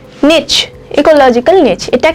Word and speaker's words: niche: উচ্চারণটা নিচ হয়, NICHE, নিচ, ইকোলজিক্যাল নিচ।